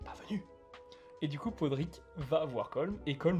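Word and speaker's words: Pádraic: Enfin, Podrick de façon prononcée française, hein, parce que dans le film il prononce pas Podrick, c'est Podrick. Et Brendan Gleeson qui s'appelle.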